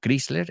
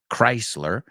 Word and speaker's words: Chrysler: an art deco skyscraper remember not chryler it's named after the car company Chrysler and it's an art